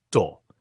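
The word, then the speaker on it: 道: como intaísmo ou estrada, pode ser pronunciado em japonês de modo aproximadamente chinês como do, como na arte marcial, judo, o caminho da suavidade, ou to, como na religião japonesa, shinto, o caminho dos espíritos, ou ainda no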